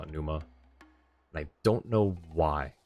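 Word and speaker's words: Pneuma: wow whoa hang on there's no puff of air from French P so it's really soft yeah um they call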